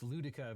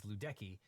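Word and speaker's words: Ludecke: In the 1948 case Ludika versus Watkins, which I apologize, I previously pronounced that as Ludeki, but in the Ludika case, the Supreme Court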